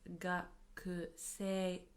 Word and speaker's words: gakusei: Although we write it as gakusei, we pronounce it as gakusei, gakusei, as if the u from ku disappears. So, as for me, watashi